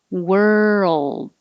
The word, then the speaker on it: world: ger if you have if you skip the rl combination in world it'll sound like word so keep your tongue moving girl world i don't have to release the d curl that's that's what you have to hear and hold the l in that l position a little longer to make the noise so it can be heard girl world curl girl